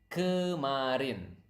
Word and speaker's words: kemarin: It is kemarin. Okay, again, repeat after me so that you can pronounce the word correctly.